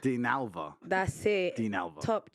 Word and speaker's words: Dinalva: I can't pronounce it. Dinalva. Dinalva.